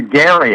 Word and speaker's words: Gerry: It came from a a governor of Massachusetts by the name of Governor Gary. Actually, it was a hard G, but we've changed it to a soft G.